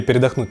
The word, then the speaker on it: передохнуть: Вообще мы хотели передохнуть на выходных. ПередохнУть, ударение на у.